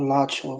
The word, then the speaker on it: Alachua: With that one that's called Alachua, Florida. That's Yeah, about my home. That's about my hometown, Alachua, Florida.